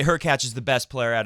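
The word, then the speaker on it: Hurkacz: 20s lower ranked obviously her catch rhymes with latch which I don't know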